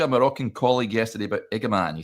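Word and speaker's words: Igamane: He says, "I spoke to a Moroccan colleague yesterday about Igaman. He said phonetically his name is pronounced Eaman.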